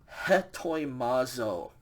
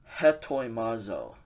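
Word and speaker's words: ἑτοιμάζω: So we're going to pronounce an H sound in front of the epsilon. This verb is said hetoimazo. Hetoimazo.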